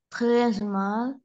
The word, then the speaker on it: très: Très mal. Merci. Merci, au revoir. Давид. Salut, bonjour, bonsoir, bonne nuit. Comment ça va? Ça va super bien. Comme si comme ça. Très mal. Смотри, буква S не читается.